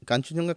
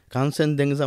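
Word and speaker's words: কাঞ্চনজঙ্ঘা: কাঞ্চনজঙ্গা কিন্তু ওখানে কাঞ্চনজঙ্গা কথাটাও কিন্তু একটা ডিবেটিয়ান শব্দ। এবারে যেমন বললাম চোমা ওটা কাঞ্চনজঙ্গা নয়। ওটার মানে উচ্চারণটা আলাদা। কাঞ্চনজতে কাঞ্চন সোনা জংঘা থাই একদমই তা না এটা কোন সংস্কৃত শব্দ না কানসেন্দেজা মানে ফাইভ ট্রেজার অফ স্নো পাঁচটা মাউন্টেন আছে ওখানে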